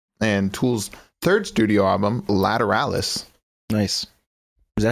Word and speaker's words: Lateralis: All right, Danny Carey said lateralis. Lateralis. That's pretty cool.